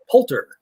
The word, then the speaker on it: Poulter: Poulter.